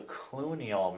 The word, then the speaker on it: cluneal: a nerve called the Cluny all nerves it's kind of George Clooney but it's spelled completely wrong are different anyway and